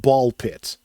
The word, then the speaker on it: BALL x PIT: So, the creator of this game says that it is pronounced ball pit. Much like Hunter Hunter, you don't pronounce the X.